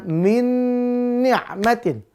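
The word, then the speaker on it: مِنْ نِعْمَةٍ: sama-sama Nun Ustaz Iya walaupun sama-sama Nun tetap dia dibaca idgam Bun biguna Berarti masuk langsung lebur ke huruf nun yang kedua dengan dengung maka bacanya Min nikmatin Min nikmatin ituu pemirsa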